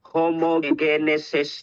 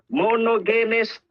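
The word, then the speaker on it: μονογενής: Po-proceed 1 18 sabi mo homogenes theos chappy mo sa ang tamang pronunciation diyan monogenes ah chap na toor o yung pronouncate chap Chapi chapi ata siya.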